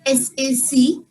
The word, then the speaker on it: sac: This is the word for bag, S-A-C. It is pronounced as sac. In this, the last Sac. letter is also pronounced sac.